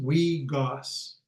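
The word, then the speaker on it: wiigwaas: So it's pronounced wee goss We got for birch bark.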